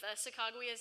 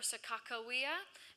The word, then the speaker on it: Sacagawea: So we do know that even though he couldn't say her name, he spelled it exactly like he heard it.